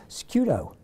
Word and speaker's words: Sciutto: she's a TV host and an actress, Sciutto. Did I pronounce that correct? It's actually Sciutto, like prosciutto.